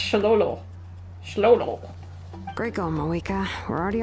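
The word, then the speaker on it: Xolo: she Loan in because the type of Mexican dog is pronounced sholo Sho greo Ma we're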